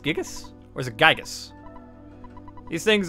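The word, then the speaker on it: Giygas: the evil intentions of gigas that's how it's pronounced gigas where's it gigas these things are the utmost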